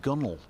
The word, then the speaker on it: gunwale: about today's word being gunwale g-u-n-w-a-l-e pronounced gunnel g-u-n-e-l no expletives please what